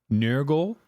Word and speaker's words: Nørgaard: Specifically, it's spelled Nørgaard, but it's pronounced like Nørgaard.